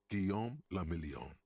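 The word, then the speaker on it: Guillaume Le Million: meant only one thing guillaume lamillion if it doesn't rhyme you're not pronouncing it right out of the dazzling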